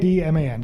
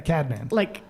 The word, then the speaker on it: Cadman: Cadman. Cadman. Cadman. Yeah, Cadman. Like he's a cad and he's a man.